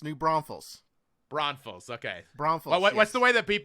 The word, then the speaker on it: New Braunfels: gotta like me cody yeah careful how you pronounce it it's new braunfels braunfels okay bronflux what's the way that people do it incorrectly so i can do that on purpose new braun fails yeah new branches is how yes that's how